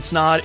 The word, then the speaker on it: Snaadt: my name is snod it Rhymes a lot and you're watching and